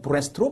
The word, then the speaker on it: breast: breast라는 단어는 east가 들어있지만 그렇게 발음하지는 않고 rest, 휴식이라는 단어를 가지고 와서 발음을 가지고 와서 breast로 발음한다.